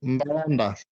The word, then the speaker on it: Mbalanda: How do you pronounce? Which I This highlighted. is Mbalanda.